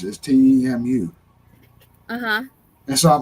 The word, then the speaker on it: Temu: but when they started doing the commercial for Timu, they were like talking about Temu or something like that, and I was like, what? So I've been saying it wrong this whole time, and now I'm learning